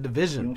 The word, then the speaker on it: DVSN: know i was like i bet you there's a way to pronounce this and i said division okay you talking over